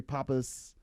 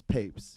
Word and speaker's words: Pape$: Well, a lot of people will be like, oh man, pretty Papes, pretty Papas, pretty Papels, or like they'll like kind of like mess with the pronunciation, but it goes as Papes. Okay. Papes is in like rolling papers.